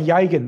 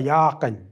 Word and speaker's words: Yagan: Even when people say Yagan, they should say Yakan. Because that's the phonetics. Phonetics is the sound.